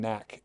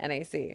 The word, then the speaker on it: NAC: I don't want to say Knack. I want to say NAC.